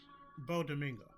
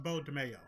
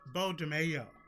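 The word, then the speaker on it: Beau DeMayo: You all need to rehire Bo Domingo. I'm sorry, Bo DeMayo. I'm so used to saying Coleman Domingo. Bo DeMayo. Had to put all the syllables in that word.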